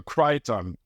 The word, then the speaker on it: Crichton: The CH for French people is so bad. So Crichton. Okay.